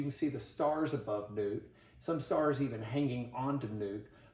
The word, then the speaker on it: Nut: goddess her name is it's spelled like nut but it's probably pronounced more like newt and newt is in